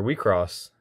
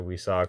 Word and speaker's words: WIXOSS: So these cards right here, these are WiXoss, which is a or sorry, WiCross. I don't want to say WiSox because that's I think